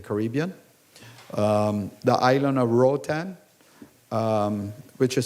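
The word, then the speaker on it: Roatán: growth in the Caribbean um the island of Rotan um which is spelled r o a t a n you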